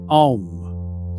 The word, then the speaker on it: Om: It begins deep in the body as an open A, the mouth wide, the sound rising from somewhere near the belly. It rounds forward into U, the lips gathering, the sound moving up through the chest. It closes into M, the lips sealed, the sound humming in the skull and the bones of the face until it fades. A, then U, then M. Om.